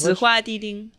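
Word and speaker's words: 紫花地丁: Zihua Di Ding.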